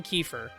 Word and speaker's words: Kiefer: I read it, I immediately go Kiefer. And I despise myself for saying that, because it's definitely Kiefer.